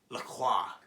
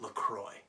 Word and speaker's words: LaCroix: So instead, they went with the American version and called it LaCroix.